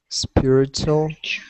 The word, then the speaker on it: spiritual: do you pronounce um spiritual and ritual spiritual and uh you know I think native speakers have a kind of chew sound in these words spiritual and there's a kind